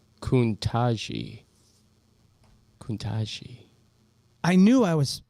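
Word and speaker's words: Ketanji: Diane said it's pronounced Kuntaji.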